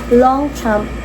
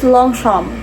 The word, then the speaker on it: Longchamp: Long champ. Ah ang pa-pronounce pala dito is long sham. Long sham. Long sham kasi nga French siya eh.